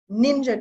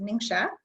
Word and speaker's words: NingXia: still the morning here this is an antioxidant ninja drink is what we call it but it's actually pronounced ningxia it is made from wolf berry and a